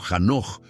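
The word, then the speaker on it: חנוך: Enoc, o Hanoch, como se pronunciaría en hebreo original, era un hombre común en su contexto, pero extraordinario en su conducta.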